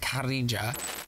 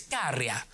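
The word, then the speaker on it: Käärijä: Eurovision this year was, I think you pronounce it Karija. I've since learned that I absolutely butchered this pronunciation and it's Karija. Sorry to this man. And it's ja, ja, ja, ja, ja.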